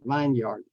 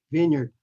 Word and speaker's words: vineyard: Tanner tan Vineyard okay it's not vineard Vineyard and then the last